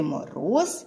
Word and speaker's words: мороз: зверху така рисочка значить у слові Мороз два Склади і наголошений другий склад давайте ще раз промовимо